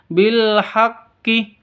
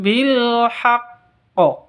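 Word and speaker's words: بالحق: bilhaqq jadi bilhaqqo jadiac cara bacanya bukan bilhaqqi atau bilhaqqo bukan seperti itu tapi ditahan dulu baru dikeluarkan qqolahnya ditahan dikeluarkan qqolahnya contoh lagi rbihkum bilhaqqo seperti itu jadi haqqo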